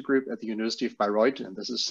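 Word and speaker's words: Bayreuth: and the micrology group at the University of by roid and this is how you actually pronounce it but no worries here and I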